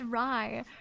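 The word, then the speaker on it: Rei: It was It's R EI, but it's pronounced Ry.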